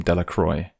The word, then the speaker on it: Delacroix: Bobby and Harry Jones and Dickie Delacroix, the villagers pronounced his name Delacroix, eventually made a great pile of stones in